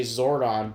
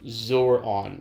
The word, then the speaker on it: Zordon: but I would say I say Zordon but in the AI would say zoron like it didn't pronounce it correctly or it didn't catch